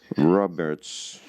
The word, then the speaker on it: Robert: First of all, as you can see, it's Robert's uterine, and basically it should be pronounced as Robert because he was French, and you can see some of the articles in French here.